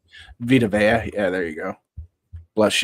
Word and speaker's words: Vita Vea: you go to the Tampa Bay with that Vita Vide, or you say his name, Vita Vea.